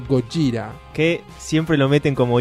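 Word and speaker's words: ゴジラ: ve que dice Godzilla, la pronunciación es más bien del estilo Gojira.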